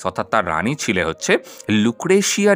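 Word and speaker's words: Lucrezia: তার রানী ছিলে হচ্ছে লুক্রেসিয়া ডি মেডিসি ওকে কোথাও কোথাও তোমরা লুক্রেসিয়াও পাবে কারণ জের যেমন দন্তাস উচ্চারণ হয় তেমন কিন্তু জ উচ্চারণ হয় তো লুক্রেসিয়া ডি মেডিসি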